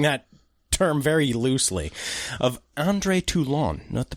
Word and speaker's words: André Toulon: Puppet Master is the quote-unquote story, and I'm using that term very loosely, of André Toulon, note the pronunciation, a master of puppets who has found an ancient Egyptian method of imbuing puppets with life.